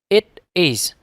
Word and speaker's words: it is: Chữ it is các bạn đọc cẩn thận, không thêm âm s vào phía sau chữ it. It is.